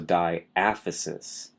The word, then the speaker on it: diaphysis: that's a challenging one to say it's the diaphysis d a b h y s i s